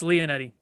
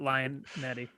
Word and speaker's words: Lionetti: that wrong the entire time too no it's lee and eddie but everyone pronounces it lion mandy okay yeah all right eric what about you